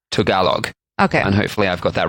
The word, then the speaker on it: Tagalog: so sorry to all of our Filipino friends phonetically apparently it's Tagalog okay I've got that right the word balut